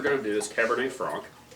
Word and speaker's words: Franc: Last we're going to do is Cabernet Franc. Horribly mispronounced as Frank, oftentimes, like Merlot.